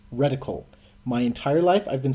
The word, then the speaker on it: reticle: this game taught me that it is apparently pronounced reticle my entire life I've been saying ridicule and that what you do to someone you